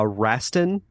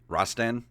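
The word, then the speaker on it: Rastan: uh shinobi and uh forgive me if i mispronounced this is it uh raston rostan ross stan r-a-s-t-a-n yeah i forgot about that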